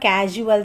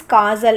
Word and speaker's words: causal: This is not casual system. This is causal. It has to be pronounced as causal system.